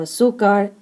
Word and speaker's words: azúcar: So azúcar ends in a consonant, therefore the strong syllable is the second to last, but because it does not end in N, S, or vowel, then you must mark an accent.